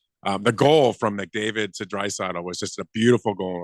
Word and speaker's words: Draisaitl: Draisaitl.